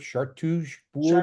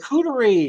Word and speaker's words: charcuterie: the picture of the food that, I can't pronounce that French word, chartreuse board or whatever you call it. Charcuterie, Charcuterie charcuterie. What?